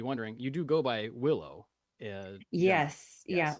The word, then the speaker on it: Willow: you do go by Willow. Yes. Yeah, Yes. like the tree. Yeah. As we were talking about, I tell people the G is silent.